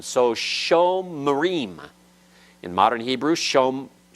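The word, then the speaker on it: שומרים: It's actually two syllables, sho, and then mrim. It's not shom. It's not a closed syllable. Closed syllable is where a consonant closes the syllable, finishes the syllable. This isn't shom, because that holum wow is a full letter vowel and cannot reside in a closed syllable. Okay? So there it's vocal, and it's sho marim.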